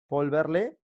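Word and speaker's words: Paul Verlaine: ahí lo estoy escribiendo volverle se pronuncia volverle pero se escribe paul ver line ya lo apunta este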